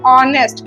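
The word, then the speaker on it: honest: ही इज ऑनेस्ट person यहां एस से शुरू हो रहा है लेकिन उच्चारण किसका हो रहा है ऑनेस्ट क्या बोल रहे हैं ऑनेस्ट ऑनेस्ट ठीक है तो ये ओ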